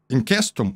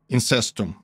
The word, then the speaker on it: incestum: If the Vestal was accused of being unchaste, which was called incestum, well, the word incestum or incestum, depending on how you pronounce Latin words, means that they were literally accused of incest.